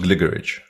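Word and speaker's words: Gligorić: remotely playable uh and gligerj is pronounced glitterage pretty sure that that last sound is just a ch yeah those aren't very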